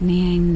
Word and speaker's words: Neang: mystery of the ocean this is nii pronounced Nang n princess of the Naga